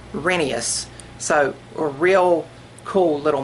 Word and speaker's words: Rheneas: I always thought it was Rheneas, but after hearing some of the audio where people recorded the books for tapes and radio and stuff like that, it's actually pronounced Rheneas.